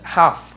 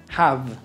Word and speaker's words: have: gone ahora tenemos have no es una F no es Half no es have es have have have como que eh pronuncias soplando una F have pero la cierras a convertirla en una V have have V sí